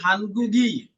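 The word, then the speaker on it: 한국의: উই মানে হচ্ছে রসব উচ্চারণ আসবে হানগুগি উচ্চারণটা ই এর মত হয়ে যাবে হানগুগি কুরিয়ার কেজল রীতিনীতি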